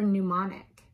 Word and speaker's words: mnemonic: of palm with her folks M is for mnemonic but now mr.